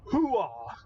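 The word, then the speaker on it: hooah: But it's the fact that you actually put the emphasis on the last syllable. Almost nobody does that. They usually go, oh. No. As drilled into your head in Army basic training is hoo-ah. Mm-hmm. Emphasis on that last syllable.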